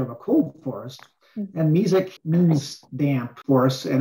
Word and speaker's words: mesic: So, Charlie, on one of your graphs, there was a mesic forest. It was M-E-S-I-C. Can you explain what that is? Yeah, and sometimes pronounced mesic as well.